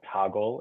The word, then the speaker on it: Toggl: the main page uh it's called toggle and it's spelled t